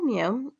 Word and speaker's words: mu: For the population mean, we have the symbol mu, kind of like a cat sound, mu, mu.